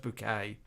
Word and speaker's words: Baxter: Baxter says, my name's spelt Baxter, but it's pronounced Bouquet."